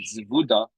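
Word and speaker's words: Zebudah: Zevuda. It's actually spelled Zevida but we pronounce it Zeuda.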